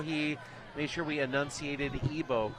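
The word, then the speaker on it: Ibo: Spelled I-B-O, but pronounced Ebo.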